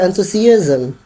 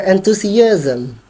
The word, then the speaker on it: enthusiasm: Your enthusiasm. Your enthusiasm. Kalau ada ism tapi penegasannya di seism.